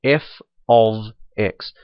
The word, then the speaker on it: f(x): And that's how this is pronounced here, f of x.